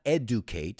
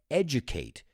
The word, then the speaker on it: educate: look at the pronunciation it's not educate its edge like edge like in border educate so it's a tool